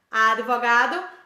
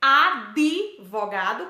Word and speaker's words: advogado: absoluto e não absoluto o mesmo acontece com advogado advogado uti é mudo então eu não posso dizer ab vogado com o som vocálico de ir em um pouco advogado com som vocálico de e entre de tv entre outros exemplos como bandeja